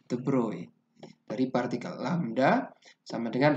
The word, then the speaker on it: de Broglie: Bacanya De Broglie bukan De Broglie ya. De Broglie.